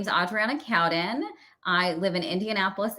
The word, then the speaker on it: Adriana: i'm good thank you it's actually adriana but that's it adriana i apologize it's a mouthful yeah i mean four syllables and just your first name is a lot yes i'm used